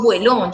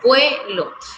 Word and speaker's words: vuelo: Entonces yo digo vuelo, termina en O, es una palabra grave, vuelo, porque yo hago el acento en la segunda, en la primera sílaba. Vuelo, yo no digo vuelón, yo digo vuelo.